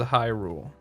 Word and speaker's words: Hyrule: the troubles in Hyrule that's how she probably pronounced it she brought she probably says Hyrule puts emphasis on the first syllable actually there's one more